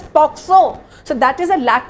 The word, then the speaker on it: POCSO: They often pronounce it as POSCO. Not many people think of it as POCSO.